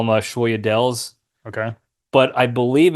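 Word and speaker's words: sfogliatelle: So the G is silent, so it's La Familia.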